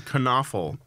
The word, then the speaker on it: Knoefel: local criminal William knoefel kunafa con awful that's very important that you pronounce it all right William Kern awful a cop on night